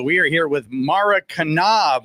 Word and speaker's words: Knaub: We are here with Mara Knaub, right? You pronounce it. The K is not silent.